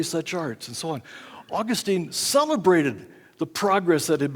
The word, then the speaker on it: Augustine: no less than St Augustine and by the way for some of my students that's a correct pronunciation not Augustin save Augustine for those who really love Britain we're augustinians so Augustine